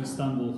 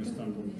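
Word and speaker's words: İstanbul: Вот, кстати, они говорят Истанбул, хотя мы говорим Истанбул. Точнее, мы говорим Стамбул, да, они говорят Истанбул.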